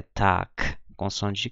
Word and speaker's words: Tag: se fosse um k então a pronúncia padrão é tac eh essa pronúncia tar é uma pronúncia Regional eu acredito que eh